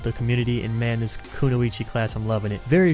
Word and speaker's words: kunoichi: all my life I've grown up saying kenoi and not until producing content did I get attacked for saying kenoi wrong so kunoichi to please you enter otakus but I actually think that's the correct way to say it so just if you